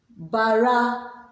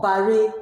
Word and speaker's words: barà: Today we'll be looking at pronunciation in Birom. Let's begin. Bara or bare means to remember.